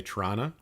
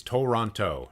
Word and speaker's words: Toronto: If you enunciate it, it's Toronto, Toronto, Toronto. You get all the T's in there, right?